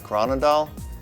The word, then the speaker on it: Groenendael: They are one of the 4 varieties of Belgian sheepdogs, which are the Groenendael, the Tervuren, the Lakenois, and the Malinois.